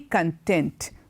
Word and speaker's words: content: would say I'm very content which means you're happy and about things going on I'm very content other than the pronunciation is content but there's another meaning